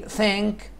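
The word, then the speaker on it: thank: عندي ثانك، ثانك طبعا لاحظوا النطق ال تي اتش، ثا، ثانك يعني يشكر.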